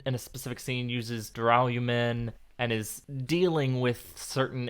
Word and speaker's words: Duralumin: Duralumin. Duralumin. No, I'm going more British with the pronunciation. As long as it doesn't turn into Duraluminum.